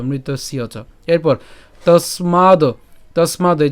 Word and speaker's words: মৃতস্য চ: আচ্ছা, তো আমরা আসি যে মৃত্যুর উচ্চারণ হবে, এরপর হচ্ছে ধ্রুবং জন্ম, এরপর উচ্চারণ কি, মৃতস্যচ, অথবা একসাথে উচ্চারণ করবো, যেহেতু বলেছিলাম মৃতস্য, ঠিক আছে, একসাথে আমরা উচ্চারণ করবো মৃতস্যচ।